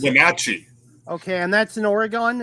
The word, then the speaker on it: Wenatchee: I can't pronounce it. Wenatchee.